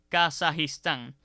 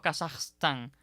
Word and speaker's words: Kazajistán: región y por tanto no sería aconsejable eliminar la i de esa palabra y decir por ejemplo kazakstan ni ni incluso con a o sea ni kazajstán ni kazajstán son formas aconsejables lo preferible es mantener esa I detrás de la J y lo adecuado entonces